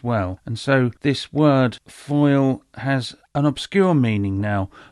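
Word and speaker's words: Fáil: was called Leah foil it's spelled f-a-i-l but I think it's pronounced foil it is intrinsically linked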